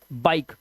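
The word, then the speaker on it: bike: अब यहां पर ई जो है लास्ट में है तो इसे पढ़ते हैं बाइक। हमारा यह साइलेंट होगा।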